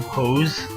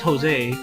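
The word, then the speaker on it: José: was Asian and like he pronounced my name Hose. Like my name's Jose, like Jose, like Jose, but like he pronounced it Hose.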